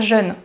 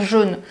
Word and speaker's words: jaune: Il y a des fois, je vais dire jeûne au lieu de dire jaune.